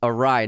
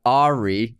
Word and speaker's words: awry: Okay, in our Top Gun episode, Joseph Stremick wrote, "Awry is pronounced Awry, not Ari."